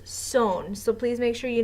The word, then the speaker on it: son: ser is son s-o-n so it's spelled like sun like I am the son of my father but it's pronounced sewn so please make sure